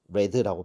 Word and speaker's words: read: 이렇게 보면 되겠고 it read라고 했네요. read라고 발음해야 되겠네요. 과거 시제로 it read.